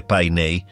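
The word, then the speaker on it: Paine: Τόρες σημαίνει πύργη και πάιε προφέρεται πινέ. Είναι η αυτόχθονη λέξη για τον μπλε.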